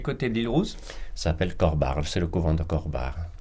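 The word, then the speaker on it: Corbara: Alors comme vous avez un petit peu l'habitude de ne pas prononcer les dernières syllabes, ça s'écrit comment, le couvent Corbar? C-O-R-B-A-R-A. Ah, il y a le A à la fin, oui, d'accord.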